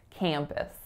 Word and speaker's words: campus: the college campus so for campus two syllables that first syllable is Kam so it's that nasalized a vowel and then the second syllable is push wah s puss campus that's a beautiful campus